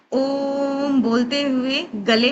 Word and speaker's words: ओम: अब ये ओम 3 वर्ड है, ओ उमा। तो ओम जब करेंगे तो आप अपने चित्त को या अटेंशन को आपने रीढ़ की हड्डी पे रखना है।